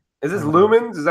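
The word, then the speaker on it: Lumines: Is this Lumens? Is that how it's pronounced? Yeah, heck yeah, Lumens.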